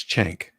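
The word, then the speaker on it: Cenk: to say his name it's not chunk like from Goonies it's chank okay Chen chank yuger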